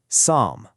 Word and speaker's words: psalm: We've got calm, folk, salmon, half, chalk, and that super tricky one, psalm.